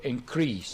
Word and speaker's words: increase: increase our cells to increase increase this is the verb this is a verb and the stress is on the second syllable number two mrna and